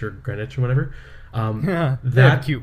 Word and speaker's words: Greenwich: Dunwich or whatever, and it's like Dunwich or Greenwich or whatever. They have cute ways of pronouncing things.